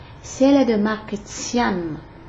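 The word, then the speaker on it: Tiane: Si elle est de marque Tian, comme ça s'entend, comme ça se prononce là, T-I-A-N-E, téléviseur à grosse tête,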